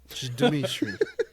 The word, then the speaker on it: Jdimytai: It's spelled Jdimytai. Dimitri.